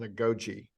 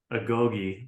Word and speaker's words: Agoge: And I'm curious, what exactly is an agoge race event? Yeah, there's an event called the Spartan Agoge, or Agoge, you could pronounce it either way.